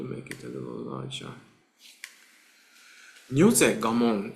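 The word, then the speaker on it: 如是我聞: Nyoze gamon is how we pronounce it, but nyoze, thus, this way, I heard.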